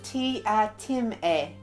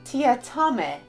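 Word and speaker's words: Teatime: In the book, he then pronounces his name as Tia-Tim-E, but in the movie, his name is Tia-Tame. I'm presuming it's Time, as that's what the book says, but I do also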